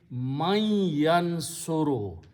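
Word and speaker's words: من ينصر: Now in the tajweed, noon and ya, when they come together, you pronounce mai, you noon gunna. It turns into the state of idgham. So pronunciation will be mai yansuru, who will help.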